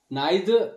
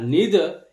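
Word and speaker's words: neither: একটি conjunction নাইদার তো এই যে ওয়ার্ডটি নাইদার এভাবেও প্রোনাউন্সিয়েশন করা হয় বা নিদার এভাবে প্রোনাউন্সিয়েশন করা হয় বোথ আর কারেক্ট মানে দুটি প্রোনাউন্সিয়েশন ঠিক নাইদার এটা ব্রিটিশ ইংলিশের প্রোনাউন্সিয়েশন অনুসারে প্রোনাউন্সিয়েশন করা হয় আর নিদার এটা আমেরিকান ইংলিশ অনুসারে তো দুটি প্রোনাউন্সিয়েশন সঠিক তো নাইদার ইউ রাইট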